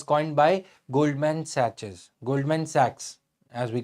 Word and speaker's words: Sachs: the term was coined by Goldman saches Goldman Sachs as we call it okay so SS I was pronouncing it for your convenience so Goldman Sachs